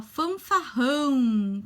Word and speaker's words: fanfarrão: palavra fanfarrão tá ó fanfarrão com dois erres o som do r fica forte hum tá quando tem